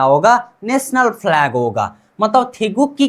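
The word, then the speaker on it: 태극기: अब उससे थोड़ा आगे जाते हैं, अब नीचे की तरफ देखिए एक ग है, ठीक है। नीचे की तरफ क्या है, एक ग है, उसके साइड में भी ग है, मतलब उच्चारण क्या करना है, क, ठीक है। थे गुक। अब ये दोनों को मिलाकर क्या होता है, क। इस साइड वाला चीज क्या है, ई, थेगुक्की, थेगुक्की, कोरियन राष्ट्रीय ध्वज, ठीक है, कोरियन राष्ट्रीय ध्वज।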